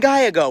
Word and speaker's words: Gallego: come up with for this one Arizona's Ruben Gago which I'm very glad I looked at the pronunciation of because it's spelled galago and I